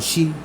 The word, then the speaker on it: Xi: I'm letting y'all know is Shi, Black Dragon. The She is spelled Xi though.